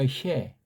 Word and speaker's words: 은혜: 하리스가 은혜라고 하는데 은혜. 이걸 은혜 이렇게 발음들을 많이 해요. 은혜. 아니 혜예요. 혜. 은혜. 찬송 부를 때도 은혜 이렇게 하는데 은혜. 혜. 희에 소리를 이렇게 정성 들여 공들여 내는 거예요.